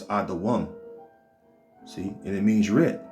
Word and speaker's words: Edom: Edom, all right, which is how you pronounce this, Adawam.